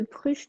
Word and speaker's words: pruche: apaisé alors l'huile de pruche tu l'écris comme ça se prononce paix rue ch e